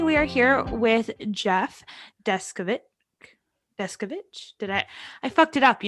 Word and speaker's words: Deskovic: Yeah, Jeffrey Deskovic. You weren't completely off. Were we to be in Czechoslovakia, it would be pronounced Deskovic.